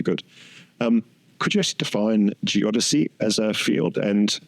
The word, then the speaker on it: geodesy: Also, thank you for telling me the precise pronunciation of geodesy. As someone who sees these words more than says them, it's always hard to put the emphasis on the right syllable, and geodesy or geodesic.